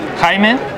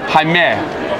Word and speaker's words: Jaime: Jaime. Jaime. Jaime. Jaime. It's spelled slightly differently from Jamie, but it is still Jamie. It's the same.